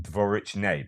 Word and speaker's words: Dvorichne: So shelling there, which is different from Dvorichne, by the way. But the E sound is often pronounced as an A sound.